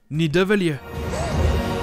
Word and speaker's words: Nidavellir: Avant, au final, de le prononcer correctement bien plus loin dans le film. Nidavellir.